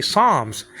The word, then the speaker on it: Psalms: the English like song you don't pronounce the p in Psalms so you say Psalms and psycho you know